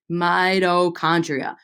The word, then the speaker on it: mitochondria: Say that with me, mitochondria. And if you think about it, it kind of sounds like the word might.